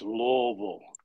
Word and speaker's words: Louisville: Well, first of all, Leslie, it's Louisville. Louisville, right? So we don't pronounce the S at all.